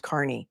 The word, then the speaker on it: Kearney: He also has not learned how to pronounce Kearney.